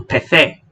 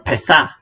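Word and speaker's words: pethau: off the U, or they pronounce it as A. So, peth, which means a thing, goes to pethe, or petha, which means things.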